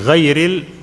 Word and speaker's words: غير: Okay, غير ra is a light there.